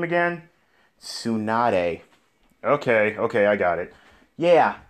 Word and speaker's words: Tsunade: Wait, how do you pronounce her name again? Tsunade.